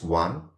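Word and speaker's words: ॐ: know that is known asakari means a means one akari or akari means alphabet tone so One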